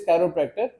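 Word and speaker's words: chiropractor: बहुत से लोग वाकिफ नहीं, इवन के लोग इसको सही प्रोनाउंस भी नहीं करते। द वर्ड इज कैरोप्रैक्टर, और जो इलाज है उसको कहते हैं कैरोप्रैक्टिक थेरेपी, ठीक है।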